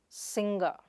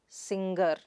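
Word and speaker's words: singer: The next word is sing-er. It is not sin-ger, like how you pronounce in younger or finger, but sing-er.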